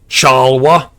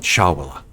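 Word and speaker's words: Chawla: Doctors Deol Chala, sorry. Can't pronounce his name right. Fucking hell. Yeah, Dr. Chala. C-H-A-W... Shit. C-H-A-W-L-A. Chal... And Casado says, yes, Deol Chawala.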